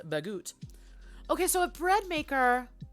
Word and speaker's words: baguette: sometimes made on a baguette or uh the proper pronunciation is bagoot okay so a bread